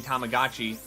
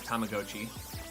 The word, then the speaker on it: Tamagotchi: Don't know how everyone I've known has been saying Tamagotchi all this time when the correct pronunciation is Tamagotchi.